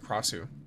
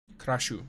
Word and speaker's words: Kashu: I mean, obviously you have stuff like Kasu, but that's not what I'm talking about. Kashu. Sorry, that's how it's pronounced.